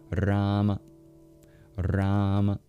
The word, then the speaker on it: Rama: But one aspect that might not be apparent is the first syllable in Rama is twice as long as the second syllable. Rama. Rama.